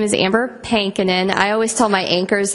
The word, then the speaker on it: Pankonin: my name is Amber penin I always tell my anchors that I'm working with back home it's pinin rhymes with spankin you'll never forget how